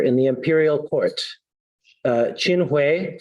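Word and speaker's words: Qin Hui: But UFA was betrayed by a scheming minister in the imperial court, uh, Chinuay, sometimes pronounced Chin Kaiu, who wanted to cut a deal with the nomad tribes and conspired to have UFA executed.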